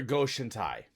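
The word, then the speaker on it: Go-Shintai: It's another Goshen Tai. I know I'm mispronouncing Basically, that, yeah. but it's another Goshen Tai no, card. Goshen Tai is right.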